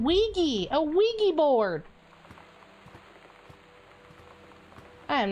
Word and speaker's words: Ouija: A Wega board? A Luigi board?